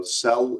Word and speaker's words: CEL: All right, so cell is spelled C-E-L.